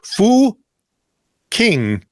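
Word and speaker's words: Fucking: The village is pronounced. Start with an F? Yeah. Fu King, but has a rather unfortunate spelling that has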